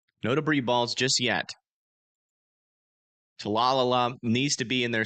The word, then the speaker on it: Talala: Talalala needs to be in their safe spots. You guys are next in line north of Talalala as well. Talala, I think, actually, is how you say it.